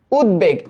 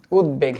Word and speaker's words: উদ্বেগ: একচুি এটার উচ্চারণটা আসবে এরকম উদ্বেগ শব্দটা এরকম তো তোমরা বলতে পারো ভাই এটা উদ্বেগ হবে না কেন কারণ এইটা উৎ উপসর্গযুক্ত গঠিত শব্দ উদবেগ এই কারণে এটার উচ্চারণটা এমনই আসবে উদবেগ এরকম আরেকটা আসতে পারে